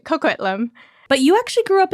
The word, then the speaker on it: Coquitlam: How do you say these names? You're saying it right, Coquitlam.